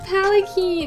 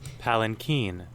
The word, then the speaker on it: palanquin: And they'll say, no, there's an N in there. It's not palanquin, it's palanquin. The N is just so soft that I just missed it, okay?